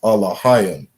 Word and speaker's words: Elohim: They would say Elohim, right? We understand the correct pronunciation is Alahayim.